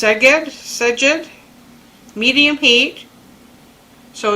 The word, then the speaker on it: Szeged: It's pronounced Szeged, medium heat.